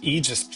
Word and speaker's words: Aegis: The second one, pronounced eegis plus always cuts bow, tome, and dragon stone damage in half.